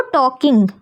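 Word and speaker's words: talking: L silent हो जाएगा तो हम इसको के सिर्फ पढ़ेंगे। तो टॉकिंग।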